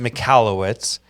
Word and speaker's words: Michalowicz: but we have Mike malowitz did I say that right I pronounce it m you're probably right I pronounce it mallwitz in uh very famous